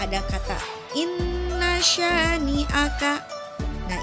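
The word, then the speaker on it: إِنَّ: Nah, ini di kata inna ada nun yang berharokat tasydid, maka itu hukumnya juga sama, yaitu gunnah musyaddadah. Cara membacanya harus didengungkan dengan sempurna dengan 2 atau 3 ketukan.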